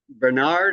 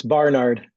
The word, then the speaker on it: Barnard: I don't know Scott what is it Bernard or Barnard it's Barnard b a r n there we go it is Barnard I I I Concur